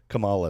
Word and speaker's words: Kamala: But say it like that. Kamala like butter. If you say kamala sounds like koala lama kama dingdong.